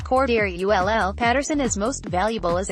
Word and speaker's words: Cordarrelle: New Bear alert, Cordarrelle, pronounced Cordarrelle, Patterson is most valuable as a kickoff returner.